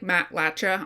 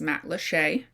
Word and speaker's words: Matlacha: Matlacha, which looks like Matlacha on paper, but it is in fact pronounced Matlacha, is filled with art